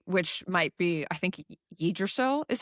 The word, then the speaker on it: Yggdrasil: But the tree, which might be, I think Yggdrasil is how you pronounce it.